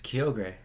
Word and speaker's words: Kyogre: It's Kyogre. Yeah, no. That's how we always pronounced it.